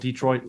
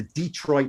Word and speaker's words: Detroit: them the Detroit Lions you put the accent on the first syllable which is it's not it's certainly acceptable but the Detroit Lines it's kind of old school um look the America